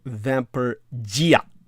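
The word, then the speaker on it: vampirdžija: as a z-h so vamper gia the jays are always pronounced like y's in the slavic language it asked vampire hatches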